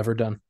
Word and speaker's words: Verdun: Going through several hundred attempts at the Battle of Verdun. Verdun? Is that? Yeah, Verdun. Why is it spelled like that?